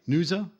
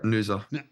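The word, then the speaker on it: Noosa: favorite vacation spot and I apologize if I mispronounce this is Nua Queensland Australia is that right Nua yeah yeah Nua all right so again I've never been to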